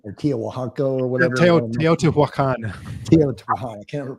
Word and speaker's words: Teotihuacan: Tiahuacan or Tiahuaco or whatever. Teotihuacan. Teotihuacan. I can't ever pronounce that one.